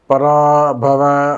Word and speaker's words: பராபவ: பராபவ வருடம் சிறப்பாக இருக்கும் போது இந்த வருஷத்தை உச்சரிக்கும் போதே பராபவ வருடம் அப்படின்னு தான் சொல்லணும்.